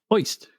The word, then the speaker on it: Ojst: And they had his name OJST, and it's pronounced Oist.